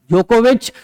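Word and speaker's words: Djokovic: बाकी तीनों में नोवाक जोकोविच, नोवाक डी साइलेंट है, नोवाक जोकोविच, और लास्ट में इसमें क्या है?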